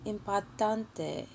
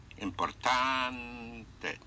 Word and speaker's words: importante: Right now, I will say whenever you have a vowel at the end of a word, that one single stress will be placed on the penultimate syllable, on the syllable before last.